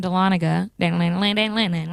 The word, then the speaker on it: Dahlonega: So I don't do as much country, even though I did grow up in Dahlonega. It took me the longest to know how to pronounce that shit.